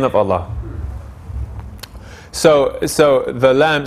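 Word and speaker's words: الله: in the name of allah so so the lamb so that's why we say allah and not allahu right so we say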